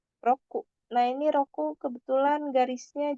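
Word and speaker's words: 六: Roku atau 6 itu cara bacanya bisa Roku, bisa juga Mutsu, bisa juga Roko. Roku, Mutsu, Roko.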